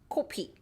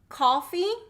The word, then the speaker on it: 코피: Your lips should be rounded. 코피, 코피, 코피. Okay. Coffee, coffee. 코, 커, 코, 커. Coffee, 코피. Oh, 코피나. You have nose blood. Oh, so that should be O. Okay, rounded. And coffee is not rounded.